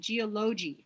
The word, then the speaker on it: geology: You're stressing the wrong syllable. Use your open hand and spend more time on the underlined sound. So notice that I said geology. Remember that? Geology is the da-da-da of the da-da-da.